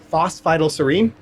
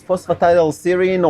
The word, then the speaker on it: phosphatidylserine: lot of people do but it's a phosphite all serine you're very close Matt very close phosphatidyl serine or PS for short very